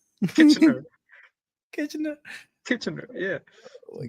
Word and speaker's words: Kitchener: How do you pronounce this place? Kitchener? Kitchener.